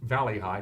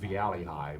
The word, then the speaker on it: Valley High: It's pronounced Valley High, not Viali High, by the way. It's not French to my knowledge.